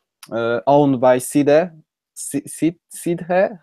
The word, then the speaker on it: Sidhe: Two worlds, one, I would say, owned by Sidhe. Sidhe? How do you pronounce it? Yeah, you see, that's very difficult. The modern Irish pronunciation is she, but an older pronunciation, the older one, is Shida.